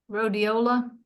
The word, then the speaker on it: Rhodiola: Rhodiola.